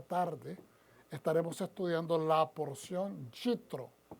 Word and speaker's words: Yitro: estaremos estudiando la porción yitro diga conmigo yitro oitro también lo pronuncia Qué es jetro pero esta porción es